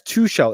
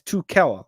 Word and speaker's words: Tuchel: i'm cool with that how do you pronounce two shell it's too keller i don't know why i said two shell two kell the edge